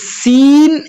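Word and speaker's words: س: এই সিন এবং সদে এই দুটি হরফের মধ্যে অনেক পার্থক্য, এবং এই দুটি হরফের উচ্চারণের মাখরাজও কিন্তু একই।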